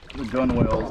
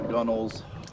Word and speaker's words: gunwale: it, it drags on the gunwales, the gunnels, the edge of the boat, depending on your knowledge and preference on pronunciation.